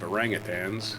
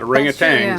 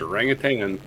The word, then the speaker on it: orangutan: that everybody does and pronouncing a G at the end of orangutans, which is not pronounced, but hey, it's what everybody does. It's not a ring of tangs. It's a rang of tang.